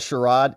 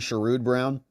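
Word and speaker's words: Sherrod Brown: works it's pretty incredible indoctrination says it's pronounced shude brown or like in Ohio we like to refer to him as the former Ohio senior senator amazing so I I was saying what sherro it's actually shud Brown it doesn't matter what his name is because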